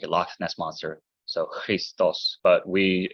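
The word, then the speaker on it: Χριστός: foreign speaking uh the he in modern Greek pronunciation is kind of like the CH and law like a Loch Ness monster so Christos but we it's a lot more natural for speaking English as I say Christos it's more natural for other languages like German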